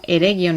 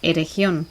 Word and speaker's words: Eregion: de get en inglés es decir eregion se pronunciaría como eregion y no como erección vamos a empezar por el